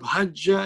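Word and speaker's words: حج: On one jim, we give sukoon so that we can pronounce it nicely. It is still three-letter verb. It is still hajaja. But now we say hajja, which means it is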